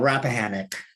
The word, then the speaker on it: Rappahannock: being deployed there and i believe the pronunciation is rap hana rappahannock i will help you out rappahannock rappahannock okay thank you